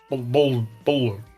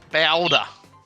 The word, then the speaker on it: BALDR: It's only got one vowel. Older. Boulder. We have to say it like a Queenslander. That's Boulder. Boulder.